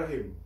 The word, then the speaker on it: রহিম: এখানে রা হবে না, হবে র। এবং এখানে রাহিম হবে না, এখানে হবে রহিম।